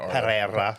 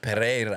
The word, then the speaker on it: Pereira: They roll the RS though like that. I'm pretty sure they It's like they roll. Pereira. Pereira.